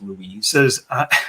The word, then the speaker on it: Louis: It's Louis, not Louis. I believe it's pronounced Louise.